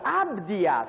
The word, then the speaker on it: Abdias: How do you say Obadiah? Obdias, c'est ça. Abdias, c'est ça. C'est même pas écrit de la même façon.